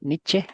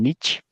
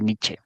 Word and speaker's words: Nietzsche: y se pronuncia así nietzsche con la e al final e porque es alemán la pronunciación que luego se escucha que le dice en nich es por influencia del